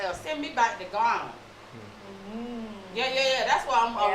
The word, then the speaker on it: Ghana: Send me back to Ghana.